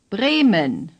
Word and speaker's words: Bremen: Say, Bremen. The first E is long A. The second is short and barely pronounced, similar to the E sound in the English word omen.